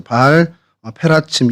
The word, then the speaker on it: 바알 페라침: 그래서 바알 브라심은 이제 페라츠라는 단어에서 이제 브라심으로 저희가 이렇게 표기를 하고 있는데, 그러니까 바알 페라츠, 바알 페라침 이렇게 발음을 하는 게 이제 원어의 발음이고요.